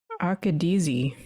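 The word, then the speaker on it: Akkadese: And the teacher droid also mentions the Acadies Maelstrom, the Akadezi. There you go. I wrote down the pronunciation.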